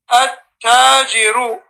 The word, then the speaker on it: التاجر: الديك So starting from at-tajiru, these at-tajiru, al-thawbu, ad-diku, these are all huruf shamsiyya.